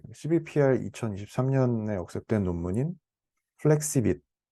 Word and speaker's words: FlexiViT: 제가 오늘 준비한 내용은 그 CBPR 2023년에 억셉된 논문인 플렉시빗, 원, 플렉시 VIT인데요. One Model for All Patch Size입니다. 저자가 플렉시빗이라고 읽더라고요.